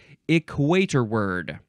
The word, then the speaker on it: equatorward: oh this is a fun and interesting word equator word equator word okay it is spelled equator Ward one this is one word equator and then w a r d at the end but it's pronounced equator word okay adverb or adjective from 1875 toward or